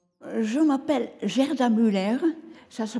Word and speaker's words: Gerda: Je m'appelle Gerda Müller, ça se prononce Gerda, mais en France on dit Gerda, un peu comme Germaine, voilà, c'est facile à prononcer.